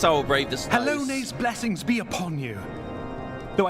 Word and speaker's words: Halone: It's pronounced Halone.